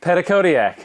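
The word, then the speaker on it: Petitcodiac: at PEC New Brunswick I think they say Pedic codiac pedac codiac that's how the locals say it so we're going to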